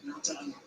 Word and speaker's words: Nathan: Nathan, so he pronounces it.